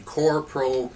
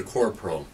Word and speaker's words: Korpro: This morning we're going to talk about coring, and specifically we're going to talk about the one-way coring and the Korpro cartridge. That's spelled K-O-R-P-R-O, Korpro cartridge for the one-way coring.